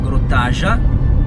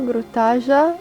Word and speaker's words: Grjótagjá: Adesso abbiamo preso la strada e stiamo dirigendo verso Grottaja, dovrebbe pronunciarsi così.